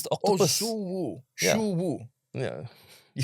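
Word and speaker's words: Xu Wu: Yeah, that is X is Shu.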